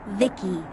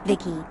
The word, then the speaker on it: VICI: i'm the ici pronounced vicky my creator was bibi secto he's yep i'm vici pronounced vicky came out here to